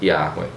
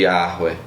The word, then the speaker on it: Yahweh: Porém, há essa possibilidade de o início, em vez de ser pronunciado com o E, ser pronunciado como A, como a gente tem no termo Aleluia, que é louve a Yah, que é o início do nome Yahweh.